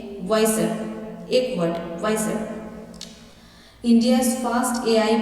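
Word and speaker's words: Wysr: आई एस आर इसका आपका जो बोलने का लायक वाई सर नहीं बोलिएगा आप बोल रहे की वा सर डब्लू आई एस वार वा सर आपका जो स्पेलिंग का लेटर है ना वाई सो आप वाई से इसको कन्वर्ट कर लीजिएगा सो ये आपके बोलने के लिए लेकिन स्पेलिंग यही है double I Y double I एस आर लेकिन आप जब बोलोगे स बोलने के लिए वाइसर एक वर्ड इंडियास फास्ट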